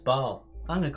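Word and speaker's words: Basel: gua olds here no it's actually pronounced baal i'm going to call it basil to get even worse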